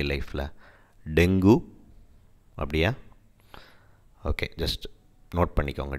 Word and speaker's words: dengue: ஸோ டெங்கு அப்படின்றத நம்ம ஆக்சுவலாக தப்பாக ப்ரொனவுன்ஸ் பண்ணிகிட்ருக்கோம், அது டெங்குன்னு சொல்லக்கூடாது, டெங்கி. கீ இருக்குது பாருங்கள், நெய் இங்கிலீஷில், அந்த மாதிரி சொல்லணும், டெங்கி அப்படி சொல்லணும்.